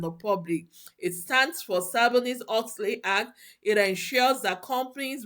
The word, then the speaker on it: Sarbanes-Oxley: SOX actually stands for Sarbanes-Oxley Act. Sarbanes-Oxley Act. A lot of people cannot even pronounce it. It is SOX, Sarbanes-Oxley, not SOC.